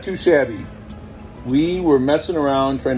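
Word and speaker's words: Shabi: of our names so shabby is spelled s-h-a-b-i and that's for spencer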